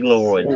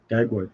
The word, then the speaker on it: Dagwood: Oh yeah, A big Daglowood. old beast. It's the Daglowood. whole thing. Oh yeah, Dagwood? That's how it's spelled out. Dagwood.